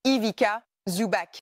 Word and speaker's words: Ivica Zubac: Ivica, vous pouvez voir, sur les t-shirts que nous avons reçus, j'adore une campagne astucieuse pour le joueur défensif de l'année, prononcé Ivica Zubac.